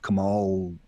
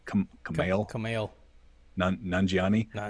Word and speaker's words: Kumail Nanjiani: I love Kamal, or did I say his name right? Kumail Nanjiani.